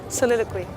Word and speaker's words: Soliloquy: Ça se prononce comme ça? Soliloquy. Ouais.